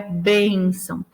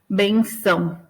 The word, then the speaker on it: bênção: Porque a palavra é bênção. Quando você deixa sem o acento, é como se a última sílaba fosse a forte, né? Como se fosse benção, né?